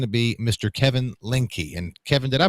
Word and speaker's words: Kevin Lindke: day and that is g to be Mr Kevin linky and Kevin did I pronounce that correctly yeah you did that's uh